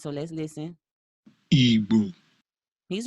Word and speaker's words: Igbo: Natively, and if you click this right here that says listen, it will pronounce it for you, and the voice says Ibu.